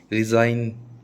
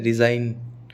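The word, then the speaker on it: resign: हमेशा साइलेंट रहता है, जी एम और जी एन कभी भी साथ में आएंगे ना तो वो जी हमेशा साइलेंट रहेगा। कैसे रहेगा, रिज़ाइन, ठीक है, रिज़ाइन, ठीक है, ग नहीं बोलेंगे कभी भी।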